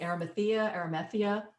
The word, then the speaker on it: Arimathea: And there's just these gardens are amazing, and they're all to do with Joseph of I always mispronounce it. Help me. Arimathea, Jesus's uncle, Yeshua's uncle.